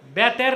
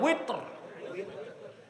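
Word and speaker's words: وتر: তারপরে কি 3 রাকাত, বেতের না উইতর। এটার উচ্চারণ আমরা ভুল করি, বলে বেতের। বেতের শব্দ আছে নাকি?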